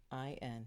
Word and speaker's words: Sahuagin: I think the S Sahuagin? is silent, and the Why H would it be and the Sahuagin? G and the N. Spelled like It is spelled.